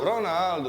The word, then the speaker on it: Ronaldo: O baca U kalau di Brazil. Ronaldo.